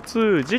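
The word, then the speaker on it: 毛越寺: 毛通寺って読むみたいですね。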